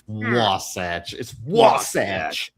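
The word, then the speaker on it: Wasatch: So, you decide how it's pronounced. That's right. Yeah, it's Wasach.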